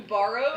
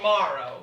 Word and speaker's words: Morrow: Did you call him Borrow? His name is Morrow. Morrow.